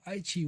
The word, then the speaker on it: Aichi: that H, there are times like I write Aichi as Aiti, because TI is pronounced chi in Japanese.